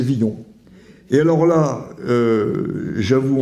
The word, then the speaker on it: Villon: euh de même que j'ai souvent dit euh Villon et c'est viillon et alors là euh